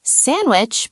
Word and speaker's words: sandwich: Sandwich becomes sandwich. I don't think I have ever pronounced the D in sandwich in my entire life.